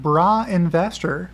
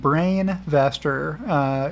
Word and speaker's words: Brainvestor: Bra Investor, which is always how I will refer to him, even though he's pleading with me to pronounce it Brainvestor in his description and with the brain shown in his profile pic.